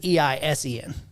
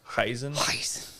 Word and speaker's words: Eisen: This is Eisen. Pronounced the same though. It is. Eisen. Yeah. Well, I pronounce it the same. That doesn't mean I don't remember how they did in the show. They put more of like H on it, like a Heisen.